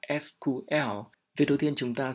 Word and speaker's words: SQL: có thể sử dụng sequel đó là cách phát âm cũ và bình thường thì chúng ta sẽ phát âm là SQL việc đầu tiên chúng